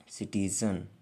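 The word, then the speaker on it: citizen: तूफान सिटी मतलब शहर देखि सी के बाद आई ई वाई आया है इसलिए सी को सा पढ़ा जा रहा है यदि किसी वर्ड में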